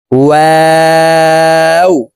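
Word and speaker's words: واو: আগে বাড়াইয়া তার বরাবর উপরের তালের সঙ্গে লাগিয়ে উচ্চারণ করবো। কফ কাফ লাম মিম নুন ওয়াও দুই ঠোট গোল করে দুই ঠোটের মাঝে ফাঁকা রেখে ওয়াও হরফের উচ্চারণ করব।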